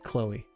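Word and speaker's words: Kloe: like dang that's really cool I'm broke it's pronounced like Khloe I was it's not chlo a man but Chloe's cool all right Chloe um but why why would anyone do this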